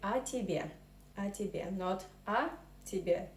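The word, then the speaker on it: о тебе: word so here accom so when we pronounce these are tibia we merge i think we merge these two words in one word so we say a tibia and especially not or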